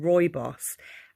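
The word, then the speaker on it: rooibos: you the tea bag packet this is vanilla roy boss tea and um i got this from sainsbury's but i'm sure you can get it from elsewhere it's spelt rui boss but pronounced roibos and it's absolutely magical and it's full of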